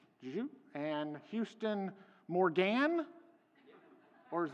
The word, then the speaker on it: Zhou: Zhou. And Houston Morgan. Or is Morgan the more traditional pronunciation?